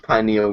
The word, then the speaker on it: pineal: His pineal gland finally opened up. Is that how you pronounce it? Yes, Pineal?